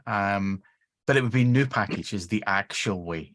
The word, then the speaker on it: nupkg: The first one is whatever way Gary doesn't pronounce it. Uh, that that's that that would be it. Um, but it would be new package is the actual way. It's supposed It's not an upkate, Gary.